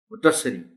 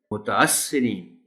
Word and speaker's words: متاثرین: ہے اس لفظ کو کہ میم تے کے بعد جو الف ہے وہ غائب ہو جاتا ہے۔ متاثرین، متاثرین، یعنی یہ جو الف